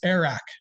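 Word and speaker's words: airag: It's spelled Arag, but it's with a little bit of a K to it.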